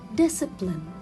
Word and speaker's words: discipline: comes after letter s discipline sorry discipline discipline so here i will not read letter c because it comes after letter s scissors scissors i will